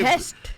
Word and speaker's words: Best: बेस्ट of times बेस्ट of times waste नहीं, Best.